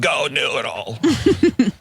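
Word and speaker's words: GoNoodle: It's pronounced Go Noodle.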